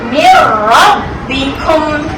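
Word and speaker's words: من ربكم: Jadi macam mana baca dia? Mir rabbikum. Masukkan terus dalam ro. Tak perlu bunyi nun ni.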